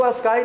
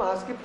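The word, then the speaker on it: ASCII: इसको अस्काई न बोल के हम आस्की सही प्रोनाउंस करते हैं।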